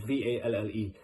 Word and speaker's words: Valle: I don't know how to pronounce his name, Vale or Valle. It's Valle.